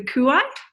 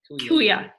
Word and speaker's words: kuia: women who are of the, how did you pronounce the wise woman, the Maori wise woman? The Kuai? So, kuia.